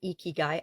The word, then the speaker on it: ikigai: necessarily need them there's a Japanese process called eeky guy eeky guy i k i g a i and it's pronounced eeky guy I actually Googled it because I wasn't sure